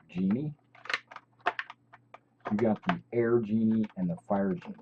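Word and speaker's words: djinn: You got the air genie and the fire genie, right? The air one is what they call the genie, the D-Gen, or the D is silent, so just genie.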